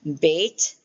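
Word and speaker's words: בית: Bait as in boy, gimmo as in girl, g as in g.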